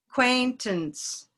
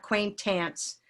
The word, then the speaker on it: acquaintance: okay and then what acquaintance and that a doesn't get much time it's not quaint ants acquaintance it's almost not even a it's a schwa acquaintance acquaintance then what